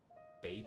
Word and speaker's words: Babel: I would probably say Babel just because that's a sound I'm used to hearing because of the Tower of Babel, but I don't think it's spelled the same way.